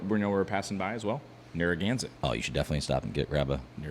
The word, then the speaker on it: Narragansett: It's Narragansett.